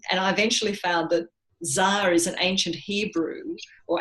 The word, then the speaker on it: Dzar: And they said, our name is Dzar.